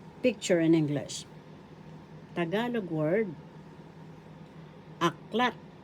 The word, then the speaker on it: aklat: in English tagalog word aklat aklat this means book in English first syllable act syllable The accent is in the second syllable.